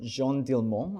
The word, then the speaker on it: Jeanne Dielman: This film is called Jeanne Dielman, I think, pronounced it in French.